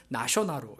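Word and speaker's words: ナショナル: 근데 이 내셔널도 우리 미국 사람들이나 뭐 이런 사람들이 이렇게 발음하지만 일본 사람들은 나쇼나루 이렇게 이제 발음을 하는데, 이 나쇼널이라고 하는 그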